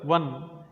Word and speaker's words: one: ಇಲ್ಲಿ ಓ ಎನ್ನುವುದು ಸ್ವರ ಆದ್ರೂ ಇದನ್ನು ಪ್ರೊನೌನ್ಸಿಯೇಷನ್ ಮಾಡುವಾಗ, ಉಚ್ಚಾರಣೆ ಮಾಡುವಾಗ ವ ಅಂತ ಹೇಳ್ತೀವಿ.